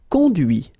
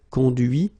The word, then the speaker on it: conduit: Okay, so you can notice that even if I put this final T, so as usual, I don't pronounce it. Okay, conduit, construit, cuit, détruit, instruit.